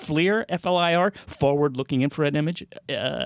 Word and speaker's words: FLIR: Kind of looks like how's it pronounced? FLIR, F-L-I-R, forward-looking infrared image, like Predator Vision, if you remember that movie.